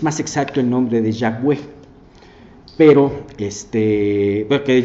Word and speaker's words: Yahweh: que probablemente Jehová viene del hebreo, no se pronuncia así porque son puras consonantes, y realmente es más exacto el nombre de Yahweh, pero porque Yahweh tiene vocales, ¿no?